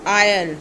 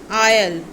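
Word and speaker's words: aisle: Next is आयल. S silent है. आयल.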